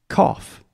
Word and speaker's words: cough: yeah foreign but we also say cough cough which is let's see yeah cough cough so this vowel sound is the ah sound just like ah Alyssa okay yeah cough cough